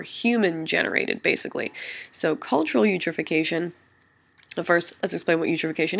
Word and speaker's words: eutrophication: a phenomenon known as cultural eutrophication that's how you pronounce that you eutrophication because you've